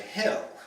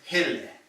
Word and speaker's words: Hille: So we look at that and we just want to say Hill, but it's Hille, you know. Got that eh at the end.